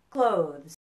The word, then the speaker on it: clothes: nose hope and low now listen to the difference between cloth and clothes do you hear it a o cloth clothes okay so that's the pronunciation difference now how are they